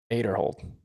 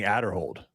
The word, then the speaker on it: Aderhold: Well, people said name wrong for a long, long time. Aderhold. Yeah, but people were saying Adderhold for a really long time.